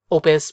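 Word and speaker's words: op.: yes it is pronounced opus because i guess opus i mean i guess op is just the shortening of opus like as in an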